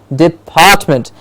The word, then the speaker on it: department: So when I say department, they will mimic me, they will say the same way, saying department, and part will already be stressed when they're saying it without them even thinking about syllable division.